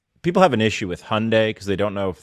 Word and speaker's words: Hyundai: I personally would have called it the Hyundai Boys, but I think people have an issue with Hyundai because they don't know if they're supposed to pronounce it Hyundai, right, or Hyundai, or that's Hyundai.